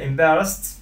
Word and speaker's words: embarrassed: pronunciation problem عندنا نحن embarrassed فما ننطق الد د، ننطقها ت تمام.